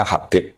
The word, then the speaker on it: Habib: Itu di harakatnya kitab itu ada yang nulis khubb. Tapi yang benar Oh, nggih. Yang benar itu bacanya Habib.